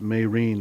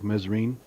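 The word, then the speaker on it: Mesrine: a French gangster uh pronounced mayrene looks like mesarin that was pretty interesting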